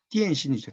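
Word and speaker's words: 點心: 점심이라는 한자를 북경식으로 발음하면 띠엔신이죠. 띠엔신. 띠엔신이 홍콩에서 딤섬으로 불립니다.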